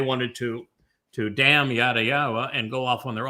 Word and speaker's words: Yahowah: yawa and proven that that is the correct pronunciation of the name and they wanted to to damn yada yawa and go off on their own little cult.